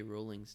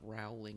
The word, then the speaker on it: Rowling: Most people get J.K. Rowling's name wrong, too. It's not Rowling, it's Rowling. Like I care.